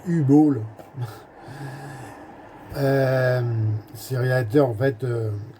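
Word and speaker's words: Uwe Boll: C'est un film de U-Ball ou U-Ball. Bon, selon la prononciation. Moi je dis U-Ball.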